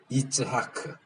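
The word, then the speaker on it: יצחק: 이삭이 히브리어로 뭐라고요? 이츠하크.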